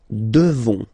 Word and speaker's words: devons: Nous devons. Okay, classic ending, O-N-S for nous. Okay, you just pronounce this on, O-N, this nasal. Okay, and then the S, final S is not pronounced.